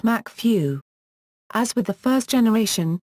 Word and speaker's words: MacFoeinaiugh: Ardal O'Hanlon is the gang's careless Northern Irish college tutor, Kieran McFinelove, pronounced Macfew.